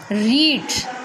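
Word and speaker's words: read: इसमें देखिए स्पेलिंग जो है हमारी सेम रहेगी सेकंड फॉर्म में भी, थर्ड फॉर्म में भी, बट प्रोनंसिएशन क्या होगी हमारी, ध्यान से सुनना। First form will be रीड, second रेड।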